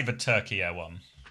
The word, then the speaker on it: Turkey: Turkey. Okay, I was pretty close to begin with. Turkey has the stress on the first syllable.